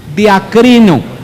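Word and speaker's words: διακρίνω: Es la palabra diacrino, pronuncia en voz alta, diacrino. Aquí en nuestros servicios hasta griego aprendemos, diacrino.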